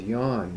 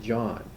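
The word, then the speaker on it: Jan: yes is yah and my name was always Yan not John Yan y the J sound is not there then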